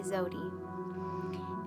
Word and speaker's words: Zewdy: queen needed a crown so he named me zodie and i love my name it's been very difficult for people to pronounce in school teachers and all that kind